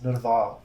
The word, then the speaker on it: Nerval: what it looks like, Nerval, in 10 years. Did I pronounce that right? Nerval, yeah. Thank you. Nerval. The Punjabi pronunciation is Nerval. Okay, I don't expect you to say that.